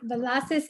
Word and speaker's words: Villacis: You're here with Christine Jewell and Villacis. Am I saying it right? Yeah, you're like the first person that actually said it right. Yay. That requires a tongue roll.